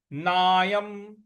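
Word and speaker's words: नायं: तौ न विजानी तो नायम नायम ना के बाद य पर जो अनुस्वार है उसका उच्चारण हमें म ले आना है तो नायम हती हंत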